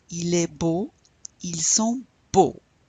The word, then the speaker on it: beaux: Il est beau, ils sont beaux. You don't pronounce that X.